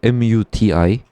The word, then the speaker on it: Dalmuti: The Great Dalmoti. The Great 네, The Great Dalmoti. DALMUTI.